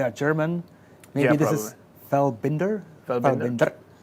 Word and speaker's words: Feldbinder: So it's Feldbinder. we'll see more. It's Feldbinder. Feldbinder. There you go. He's got it. The pronunciation on point.